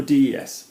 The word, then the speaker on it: des: of the reasons this happens d e or Des one of the reasons this happens is a